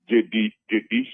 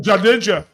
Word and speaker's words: Jadeja: You know, I was comparing him to Jedisha or whatever how the name is pronounced. Indian spinner. You know, this Indian spinner that's number 7 for India. You mean Jadeja?